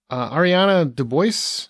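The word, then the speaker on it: Ariana DeBose: And Ariana DeBois, I believe is how you say her name.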